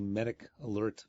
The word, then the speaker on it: MedicAlert: conversation Dr Mark informed me that I was mispronouncing the name of The Medic Alert foundation in fact it's me d i c